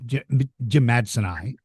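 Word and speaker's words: jimmadseni: I didn't make the so the Allosaurus in the first issue is an Allosaurus jimitsoni. Or how do you pronounce it? Well, Jim Madsen, so I pronounce it Jim Madsoni.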